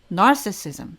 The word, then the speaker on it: narcissism: narcissism, 강세가 바뀌죠. narcissistic이었는데 narcissism 이렇게 바뀌게 됩니다.